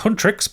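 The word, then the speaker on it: Huntr/x: Hunter/x, pronounced Hunrix, but it's got a slash in the place of the eye, are a Korean music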